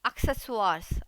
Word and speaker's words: Accessoires: और साथ में नॉक एक्सेसवार्स, एक्सेसवार्स यानी कि एक्सेसरीज, स्पेलिंग एकदम सही होती है, प्रोनाउंसिएशन डिफरेंट होता है। एक्सेसवार्स ये थोड़ा सा फ्रेंच टोन में जाता है, नेजल वॉइस आती है इसमें।